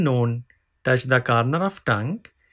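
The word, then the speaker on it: نون: character is new visited after me please remember known has one dot remember known has one dot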